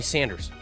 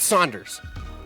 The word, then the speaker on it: Sanders: spectrum Democratic candidate Bernie Sanders announced did I say it right Bernie Sanders not Saunders it's not Larry Saunders Bernie Sanders just announced he would